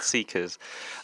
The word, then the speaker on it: CICAS: When I first read Seekers, it's the artist development program, am I correct in saying? I was like, how do I pronounce that? CICAS. Seekers as in seeking something.